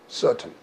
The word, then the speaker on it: certain: 그렇게 되면 ER을 리버스 하로 배웠으니까 근데 왜 그런 커 그러지 않고 써 그러느냐? EIY 룰이죠. EIY 룰을 적용하면 이거 스 발음 나니까 그래서 써가 되겠죠.